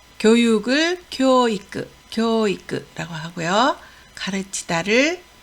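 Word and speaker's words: 教育: 교육을 교이크라고 하고요.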